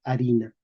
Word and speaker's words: harina: Español moderno, escribimos con H, porque mantenemos la escritura, la pronunciación medieval, pero no pronunciamos la H, decimos A, ¿ok?